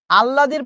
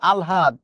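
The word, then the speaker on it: আহ্লাদ: ঠিক আছে thank you আল্লাদর প্রসঙ্গ এসেছে মাসিবেশি গল্পে আললাদি আমরা বলি কিন্তু উচ্চারণ হচ্ছে আলহাদ বা আলহাদি প্রহ্লাদ উচ্চারণ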